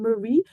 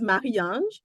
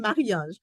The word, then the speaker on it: Maran: am from Haiti and I am very attached to the pronunciation of my name it came from my father and I like to stay connected to my roots and I did not think it was necessary to translate my name as I moved to another country it is a little bit of of a mouthful to pronounce if you don't not connected in French but I'm going to